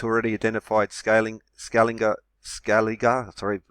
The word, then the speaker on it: Scaliger: before creation itself even before the beginning of scaling is Julian period of four thousand seven hundred BC and you can read for it well because Jesuits already identified scaling scaling uh scaliger sorry pronunciation has public enemy sharpen their nibs